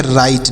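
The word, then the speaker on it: write: ई तो इसे पढ़ेंगे राइट डब्लू आर आई टी ई राइट पढ़ेंगे डब्लू यहां पर साइलेंट है डब्लू को नहीं पढ़ा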